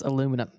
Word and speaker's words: aluminum: it he gotcha it's aluminum simpler straightforward aluminum oh God we we